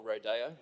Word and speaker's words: rodeo: This is not my first rodeo, or rodeo, if we are to pronounce it in the slightly more appropriate Spanish-speaking way, as it is a Spanish word.